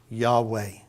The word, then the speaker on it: Yahweh: written songs about it we think we can pronounce it and we call it Yahweh but you remember there's no vowels so it could be ye we it could actually be Yahoo but Lyle we're gonna